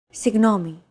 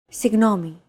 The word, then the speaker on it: Συγγνώμη: Συγγνώμη. This character isn't pronounced using an English G sound at all. Γ. It's like a very soft, continuous, and loosely held G, almost as if you're gargling, but don't make it sound too throaty.